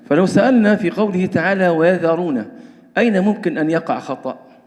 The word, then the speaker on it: ويذرون: في الذال لمجاورتها الراء المفخمة، إذن ممكن الذال هذه ننطقها ضا ويضا وهذا خطأ. لماذا؟ لمجاورة الراء لها، والراء هنا مفخمة، إذن نقول ويذرون ولا نقول ويضرون، تمام؟